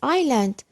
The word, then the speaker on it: island: A word has silent S. Perfect. Island.